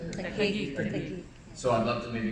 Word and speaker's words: Taguig: I think it's in Tagwig. How do you say it? Taguig.